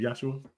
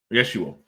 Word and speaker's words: Yeshua: Is it Joshua? Yeshua.